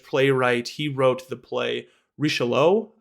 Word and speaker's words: Richelieu: He wrote the play Richelieu, which I think is how you pronounce it. My French is not great, but it's Richelieu, and Richelieu is a cardinal